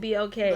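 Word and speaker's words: BLK: So, um, I was on I guess I don't know if it's called Black or you pronounce it BK. Black B.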